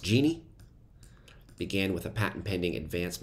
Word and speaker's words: GNY: Pronounced Genie.